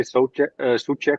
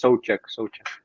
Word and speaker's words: Souček: People who speak the English language always say Souček or something. I don't know how to say it, but it's Souček. Souček.